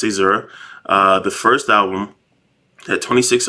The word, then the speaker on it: Caesura: So it's pronounced Caesura.